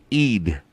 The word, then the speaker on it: Eid: How do you say that? Eid. Mariah Eid.